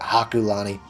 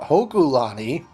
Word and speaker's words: Hokulani: Ulla our mount hokulani i mispronounced that in the last episode I called it a Kalani its mount hokulani and mount Lanakila mount